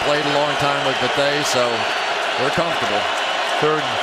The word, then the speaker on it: Bethea: By the way, a lot of people call him Bethea. We're calling him Bethea. Why? Because he introduced himself tonight as Antoine Bethea.